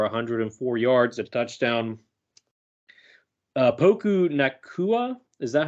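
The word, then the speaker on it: Puka Nacua: 22 rushes for 104 yards a touchdown uh poku nakua is that how you say his name Puka Puka nakua okay yep anyway he had nine receptions for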